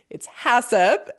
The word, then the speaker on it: HACCP: then so some people, and it's funny because I hear people say it's that H2AACP or like I hear all sorts of crazy pronunciations for this, but it's HACCP, It's HACCP, yes.